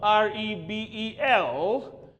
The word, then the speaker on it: rebel: is he is a r e b e l now this is a noun and its phonetics is its pronunciation is Rebel Rebel Rebel nouns how stress on the first sound have a look rap